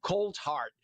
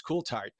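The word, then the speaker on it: Coulthart: I had to practice because I wanted to say cold heart uh in American pronunciation, but it's Cooltart uh from Australia, but you are the special correspondent for NewsNation on this issue.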